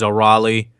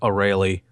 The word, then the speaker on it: Arale: There's the Japanese way is Arale. Mm-hmm. The dub pronounced her Arale.